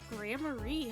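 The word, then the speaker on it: Gramarye: Only time they ever give a pronunciation guide in all of these goddamn games. Troop grammarie.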